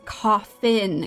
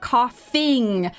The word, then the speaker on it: coffin: caffeine and she's like no it's coffin coffin not coffing or caffeine coffin it's actually amazing